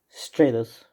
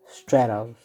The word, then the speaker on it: Stratos: in the video i kind of mispronounced stratos so like stratus i meant stratos straddles you know animal